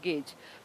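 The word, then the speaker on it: gauge: उसे कहते हैं नैरो गेज। तो ये गेज जो है तीन तरीके से जी ए यू जी ई ये स्पेलिंग होती है इसकी। गाउज करके लिखते हैं। गेज बोलते हैं इसको।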